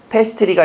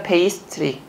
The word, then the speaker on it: 페이스트리: 페스트리가 아니라 페이스트리.